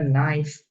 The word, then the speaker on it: knife: Nah, bacanya knife, knife. K-nya nggak dibaca, ya.